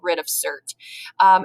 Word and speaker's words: writ of cert: writ of cert uh you don't have to worry about pronouncing this word um we pretty much call it rid of cert and basically a writ